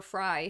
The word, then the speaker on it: Frey: Worse, a woman named Amber Fry, it's spelled Frey, it's pronounced Fry, came forward and announced